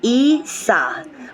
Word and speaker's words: Isa: out was this beautiful card here and it's pronounced Isa which means ice or Frozen card is associated